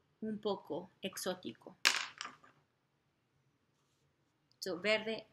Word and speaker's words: exótico: Y un poco exótico. Un poco exótico. So, verde y exótico. I'm gonna write it over here. Exótico. Exótico. So, notice how there's an emphasis on that O.